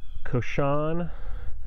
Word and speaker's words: cochon: It's pronounced cochon, which is French for pig.